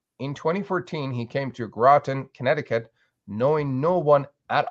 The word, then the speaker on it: Groton: here great to have you um you're in groton connecticut did i say it right you did